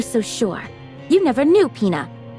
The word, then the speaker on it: Pina: No one can take Pina away from me. That's not Peina.